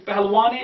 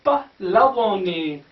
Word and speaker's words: pahlavani: This is, sometimes we cannot say pahalwani, it is like this. This is per sound. This is her sound. This is sakin here, this is pah, then it's la, wa, then it's, see, it's pahlavani. Pahlavani, not pahalwani, it's pahlavani.